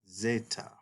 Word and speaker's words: zeta: The next letter, which looks like a Z, is the letter zeta. Zeta. And zeta is originally pronounced in Classical and Koine Greek like a DZ sort of sound.